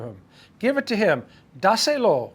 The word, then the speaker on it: dáselo: Dáselo. One word. D-A-S-E-L-O. There's an accent on the A.